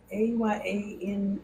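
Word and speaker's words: àyànmọ́: I a y a n m o I think. Yeah. Ayan. Yeah. The n is like it just let you know there's a syllable there.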